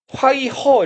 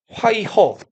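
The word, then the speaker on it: 淮河: 회수 회화를 중국어로 읽으면 회화는 이제 화이허 이렇게 읽거든요. 화이허.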